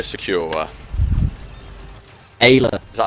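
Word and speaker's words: Aayla: It's the Jedi Crash arc, where with Alia Secura. Ayla.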